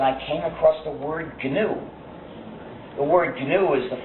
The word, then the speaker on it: GNU: But when it's the name of our system, the correct pronunciation is GNU, pronounce a hard G.